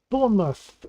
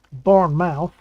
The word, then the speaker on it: Bournemouth: how you write it Bournemouth yes indeed and and the lady pronounced it correctly she did she didn't say like born mouth which she could have